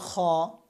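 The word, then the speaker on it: خ: তারপরে খ।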